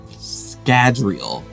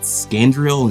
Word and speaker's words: Scadrial: Scadrial. I'm saying it right this time, I hope. I think I pronounced it Scandriel in previous videos.